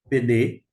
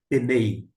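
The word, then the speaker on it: פני: Por isso, não é, eu não pronuncio Penei. Eu sei que tem um Y aqui, mas a maneira de mencionar aqui é Pene e não Penei.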